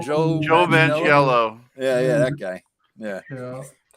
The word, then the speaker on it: Manganiello: Magiola? Joe Joe Manganiello? Manganiello.